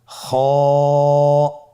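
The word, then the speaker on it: خ: খ হরফটির মাখরাজ হলো কন্ঠনালীর শেষ ভাগ হতে উচ্চারণ করতে হয়। কন্ঠনালীর শেষ ভাগ। আপনারা আমার সাথে বলুন খ আবার বলুন খ মাশআল্লাহ।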